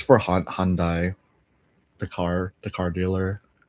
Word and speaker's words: Hyundai: How do you pronounce H Y u N D A I? The answer is Hyundai.